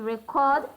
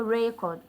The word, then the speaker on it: record: Aina has the audio record. Aina has the audio record. This is a noun. So the stress is on the first syllable.